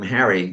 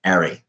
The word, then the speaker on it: Harry: h's in lancashire so he was hobbled by a name harry which was never pronounced properly for the first half of his life because of course in lancashire it was arie that really upset him